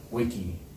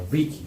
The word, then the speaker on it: vici: Yeah, but apparently in Latin it's more like a wick, like a W, like a wiki, like a wiki. Wiki, like if you actually pronounce it more in Latin, it has that.